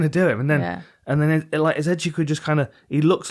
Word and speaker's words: Nzechukwu: Nzechukwu.